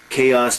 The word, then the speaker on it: chaos: Notice the pronunciation. Chaos, total disorder.